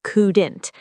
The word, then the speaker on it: couldn't: Yes, and couldn't is couldn't. Make sure not to pronounce that L.